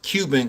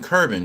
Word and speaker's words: Cuban: Glorilla, they pronounce in Memphis, they pronounce Cuban Curbin. They put an R in there.